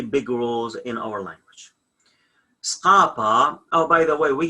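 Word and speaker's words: ܙܩܦܐ: When we're gonna study this letter, it says if Z come before qop, q, the sounds of Z is going to be S, S. So that's why the sounds of skapa is not skapa, it's skapa.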